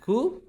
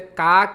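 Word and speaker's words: か: এর বর্ণটা কা এটা কিন্তু কা বলছে না এটা হালকা খ এর মত মানে ক এবং খ এর যে মধ্যবত্ত স্থান আছে এটা উচ্চারণ করবেন খা কিন্তু এটা হচ্ছে আবার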